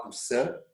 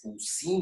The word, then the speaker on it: Poussin: Aí vocês têm uma imagem, que é um quadro do Nicolas Poussin, né? Se escreve Nicolas Poussin, mas é Nicolas Poussin, Vejam este francês quase belga, né?